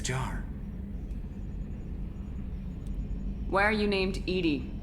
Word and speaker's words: EDI: airlock is a jar why are you named Edie Edie is the phonetic pronunciation of ETI that is an acronym for